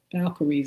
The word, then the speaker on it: Valkyries: State of V A I'm not going to try to pronounce it V A L K Y R I S. Valkyries, I believe that's how you pronounce it anyway.